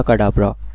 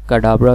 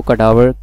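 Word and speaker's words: Cadabra: उसकी रीज़न ये थी कि वो बहुत ज़्यादा मिसहेड हो रहा था लोगों के थ्रू, कि अगर कोई कहता था कि कडाब्रा तो वो कडावर प्रोनाउंसिएट होता था या इस तरह।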